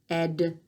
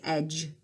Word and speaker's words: edge: we had edge and you don't say edia Edyta you don't say it like that you say edge the e when you